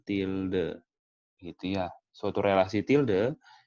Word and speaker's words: tilde: Ini bacanya tilde. Ini bacanya tilde, gitu ya.